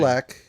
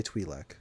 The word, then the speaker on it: Twi'lek: Oh, they're both correct. So you can say either or. you could say That's what I'm saying. Twi'lek or you could say Twi'lek.